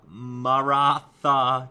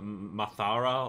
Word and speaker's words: Maratha: It's Maratha Confederacy. I think I got that right. For some reason, I always cannot pronounce the first word. I don't really know why. Like I used to call it Mathara or something.